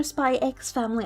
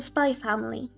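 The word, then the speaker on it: Spy × Family: it Spy Family or Spy X Family? I I honestly don't know. Oh, both of those are like really well-known ones, right? I haven't watched either. The X is silent. The Spy Family.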